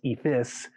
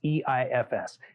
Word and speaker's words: EIFS: eefs is so e-i-f-s some people improperly pronounce it as ephis but it's e-i-f-s exterior insulated finished system